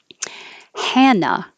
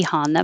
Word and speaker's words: Hannah: to sound fine tournament hannah is a girl's name and it sounds with the usually it can be honda but usually americans use the ah han hanna the very similar sounding